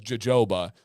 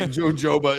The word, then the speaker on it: jojoba: hoba or or no he says Joba that's just wrong it's h hoba is the pronunciation right jojoba I love when people